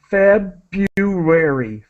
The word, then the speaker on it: February: with uh pronunciation uh we do not pronounce the R so feu feary February the r is silent and so what does